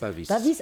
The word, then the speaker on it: Pavis: Euh alors un trou Pavis Paris Pavis Pavis. On prononce le S. Bah moi je le prononce.